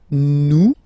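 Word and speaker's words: nous: one comes here it's new no okay ah sorry about that oops new some okay new okay so you don't pronounce the final s here it doesn't exist Su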